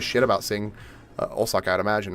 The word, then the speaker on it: Osaka: Osaka Osaku instead of Osaka pronunciation wise, it's Osaka.